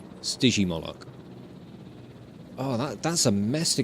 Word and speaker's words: Stygimoloch: oh that's an idea soft G Stygimoloch oh that's a mess